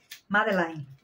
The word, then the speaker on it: Madeleine: Y este lo tomamos en el tono Madeleine, Madeleine, se pronuncia.